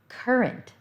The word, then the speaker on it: current: Current. The one right now. Current. It's got 2 R's, but you only pronounce one of them in current.